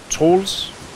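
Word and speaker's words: Troels: He pronounces both names the Danish way, which no one else does. So it's very weird for me to hear it. It's Trolls and syndereN.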